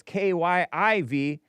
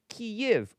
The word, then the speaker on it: Kyiv: Now it's K-Y-I-V, which is the Ukrainian preferred pronunciation because of politics. Because they feel sorry for the Ukrainians, which I do too, you know. I'm a little liberal. Instead of Kiev in Russian, it's Kyiv or Kyiv in Ukrainian with the softer V sound.